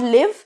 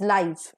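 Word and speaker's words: live: इज लाइव एंड लाइवली now this is नॉट लिव because if यू are pronounce it एज लिव इट इज a verb then हिर वी are talking about adjectives and adverbs only so एज an adjective और एज an adverb it should be pronounced as लाइफ एंड नॉट लिव सो लाइफ जब adjective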